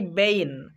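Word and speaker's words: bane: তেমনি করে বলতে পারি বেইন, মানে ধ্বংসের কারণ।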